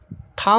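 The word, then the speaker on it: thumb: यहां पर लिखा हुआ है थंब। थंब में जो है बी साइलेंट है।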